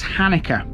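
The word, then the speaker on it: Halnaker: spelling of this one although written as hellmaker the locals refer to this as Hanukkah pronounced almost in the same way as the Jewish Festival believe it or not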